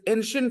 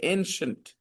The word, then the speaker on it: ancient: Her passion is ancient history. Do not pronounce any different way. Ancient. I is silent. Ancient.